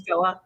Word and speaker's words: Joa: she does is say, it rhymes with Noah, because nobody knows how to say her name. So she's like, it's Joa, rhymes with Noah.